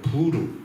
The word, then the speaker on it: 부르: 무리가 하만 앞에서 날과 달에 대하여 부르, 히브리 발음입니다.